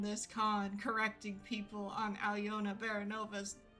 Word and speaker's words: Aliona: So me being like, Aliona Baranova, 3 syllables, Aliona.